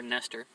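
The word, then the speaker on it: Nester: And it's spelled just like that, N-E-S-T-E-R, Nestor.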